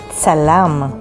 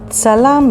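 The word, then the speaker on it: צלם: The next word is tsalam. Tsalam means photographer, and it is spelled with the letters tsadi, lamed, mem sofit, tsalam.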